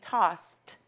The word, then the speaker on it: tossed: double letter followed by our ending sound which makes a t when we say it it sounds like you're saying tossed with a t right and that's mainly